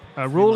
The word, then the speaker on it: Roel: Oh, I just learned from chat that Roel is pronounced rule, like in rule of law.